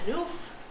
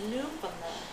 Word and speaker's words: Newfoundland: It's not Newf. It's Newfoundland. Newfoundland. Newfoundland. But people will enunciate it. Newfoundland. No, it's not Newfoundland.